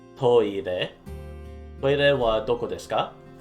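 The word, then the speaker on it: トイレ: You can just say toire, which is just a shortening or sort of using English pronunciation, not English, Japanese pronunciation for the English word for toilet. It's toire.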